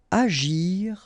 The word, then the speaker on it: agir: Agir en. Okay, remember when we've got G and after that we've got I, it's really like J.